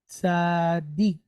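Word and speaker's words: צדיק: So we have the first syllable goes from being tza to tzad. Then we pick up the second dalet and the kirik yod and the kuf at the end, right? Dik. Tzaddik.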